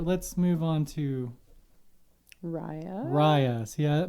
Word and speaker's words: Raya: move on to raya rayas yeah my brain was gonna say reya again because it's spelt that way raya in the last dragon